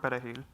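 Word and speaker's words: perejil: they would ask them to say the word perahil and if they could not say the word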